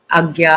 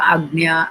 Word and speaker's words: Ajna: Agya, Agnya, Ajna, various pronunciations.